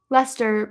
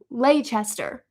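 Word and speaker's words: Leicester: Lester, pronounced Lester. Yes. Okay, cool. Cuz while before I went to London, I was like, "Oh, it's uh like Leester."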